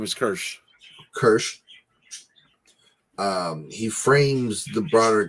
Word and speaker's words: Kirsch: Kirsch. It's his character name is Kirsch.